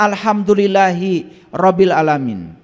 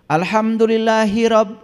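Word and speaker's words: الحمد لله رب العالمين: Makanya alhamdulillahi dengan rabbil alamin itu harusnya terpisah. Dan kita selama ini membacanya sendiri sudah kacau balao. Alhamdulillahirab e hirab. Hirab itu perang. Makanya Anda perang terus. Coba nanti perbaiki itu. Alhamdulillahi rabbil alamin.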